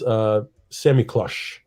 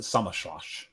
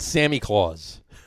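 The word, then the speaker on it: Samichlaus: But is Semiklush, or however you want to pronounce it. It's my German. What do you say, Dave? I've always pronounced it Sammerschloss. Sammerschloss. How about Sammy Claus? Sammy Claus. I don't think that's correct.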